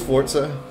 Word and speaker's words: Forza: Also, is this Forza? I heard it's pronounced Forza, like Italian, instead of Forza.